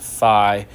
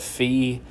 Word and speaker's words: phi: you see it says this symbol is read as Phi pronounced Phi I think sometimes people call it fee I think it's supposed to be Phi I think that's the official whatever but I mean whatever